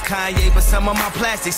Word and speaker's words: Kanye: Now all I need is y'all to pronounce my name. It's Kanye, but some of my plastics still say Kane.